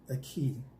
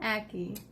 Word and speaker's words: ackee: Did I say that? Ackee. Ackee. I put a lot of emphasis on the last part. We looked it up. We Googled it. Yes, and she was right and I was wrong.